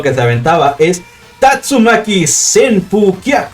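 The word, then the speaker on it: Tatsumaki: patadas giratorias tengo algunos y que la pronunciación correcta de las patadas de río las patadas helicóptero que esta venta va es tatsuma keys en turquía q suena más fácil decir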